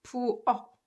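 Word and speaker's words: 부엌: So when you read this word, 부억, 부억, it's pronounced 부억, just like 기역 받침, right?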